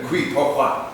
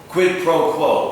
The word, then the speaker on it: quid pro quo: The qui pro quo. I'm sorry, no. Qui pro quo. No, quid pro quo.